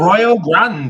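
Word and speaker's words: Arroyo Grande: And before that, we have a show coming up in how do you pronounce it? Ario Grande. Aro Grande. A Royal Grande.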